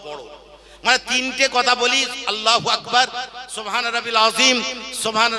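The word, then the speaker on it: الله: আল্লাহ এমন একটা শব্দ, একে যদি আল্লাহ আলিফ লাম লাম হে এইটার উচ্চারণ হয় আল্লাহ।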